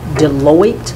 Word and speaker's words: Deloitte: You've got several studies in here that are attributable to Deloitte. Yes. Is that how you pronounce that?